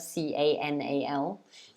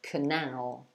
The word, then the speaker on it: canal: the stress there because when you say that word c-a-n-a-l you have to stress the second syllable so you say canal canal the word i